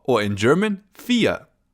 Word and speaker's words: vier: Our next number is 4 or in German, vier. Vier. Pretty similar to English, right? Vier. We pronounce it just like the English word fear, if you fear something, for example.